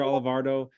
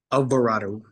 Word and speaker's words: Alvarado: the annual event uh Dr alvardo uh did I say that right I always am nervous I'm GNA say your last name wrong Alvarado Dr Alvarado um yes sir working